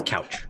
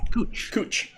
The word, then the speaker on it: Couch: You look at it, everybody says it's Couch. Yep. No, it's Cooch. Cooch Street. Cooch Street. It's spelled Couch, but it's Cooch Street.